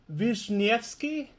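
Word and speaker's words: Wiśniewski: Jack it's good your translation is almost perfect Vishnevsky yeah it is very good very good very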